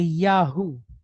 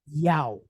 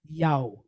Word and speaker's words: Yahu: We see it and we say Yahoo, but that is not a natural occurring sound in the Hebrew language. It phonetically becomes Yow, like YOW, Yow. So, although, like I said, I'm not going to bust anybody's chops for pronouncing it the other way, but native translation translates or parses it as Yao, not Yahoo.